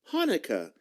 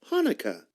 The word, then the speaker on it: Hanukkah: in the word but no matter how you spell it it's always pronounced the same way hanukkah say it with me hanukkah and it's always celebrated